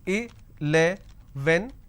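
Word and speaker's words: eleven: The second one here is 11. So I can pronounce this as a, le, ven, but lot of people pronounce this as 11.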